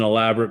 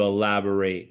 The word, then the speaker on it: elaborate: know, elaborate, which is which actually could be pronounced two different ways. That's an elaborate plan. Or as a verb, could you elaborate?